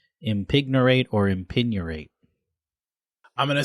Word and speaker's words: impignorate: and then spell it impignorate the G could be silent i m p i g n o r a t e impignorate or impignorate I'm gonna say it